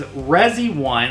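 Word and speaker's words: Resione: what we're doing so this is resi1 I'm going to pronounce it that way it's r-e-s it's r-e-s-i-o-n-e ready one and this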